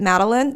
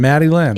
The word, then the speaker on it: Maddie Lynn: And then my next one is Maddie Lynn, which her dad pronounces it Madeline. That's not her name. It's Maddie Lynn.